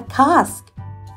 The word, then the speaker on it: casque: The horn-billed helmet is called a casque, rhymes with mask.